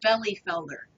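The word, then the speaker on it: Bielefelder: real thing it's spelled belief Elder but it's pronounced belly Felder yeah it's it's a it's a great um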